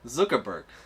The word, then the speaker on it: Zuckerberg: ass belt your name like a zucchini and a burger pronounce it Zuckerberg all right don't be